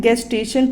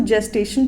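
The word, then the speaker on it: gestation: अब next term पे move करते हैं, गेस्टेशन पीरियड, ठीक है। गेस्टेशन, इसको जेस्टेशन पीरियड पढ़ते हैं, ठीक है, प्रोनाउंस करते हैं जेस्टेशन पीरियड।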